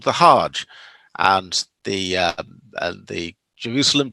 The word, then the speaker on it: hajj: are called the hug and the hard g uh often becomes a soft g when hebrew words are translated into arabic that's one of the